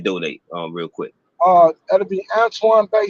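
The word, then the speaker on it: Antoine Bey: Wherever you listen to music, all you gotta do is type in my name, which is Antoine Bay. Antoine Bay Mm, is spelled Antoine, and Bay is Bey.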